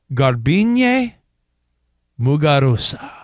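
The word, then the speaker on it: Garbiñe Muguruza: Yeah, let's hear you pronounce her name. In a Grand Slam. And her name is Garbine Muguruza.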